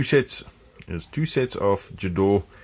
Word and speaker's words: Gedore: there's two sets of jador ghidori how you want to pronounce it if you're german if you're not combination